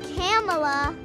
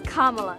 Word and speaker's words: Kamala: one the meaning of her name it's not camella it's not kamala it's not camella it's kamala kamala harris's name has been a hot topic